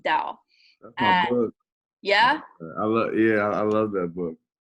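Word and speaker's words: Tao: doubt the chain it's ta oh but it's pronounced Dow yeah oh yeah I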